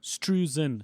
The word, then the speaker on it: Struzan: Which How do is you pronounce his surname? Struzan. Struzan.